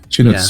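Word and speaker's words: Shinotsuki: Is that, do you pronounce the T? Yes. No, it's like Suki. T-S-U, Shinosuke.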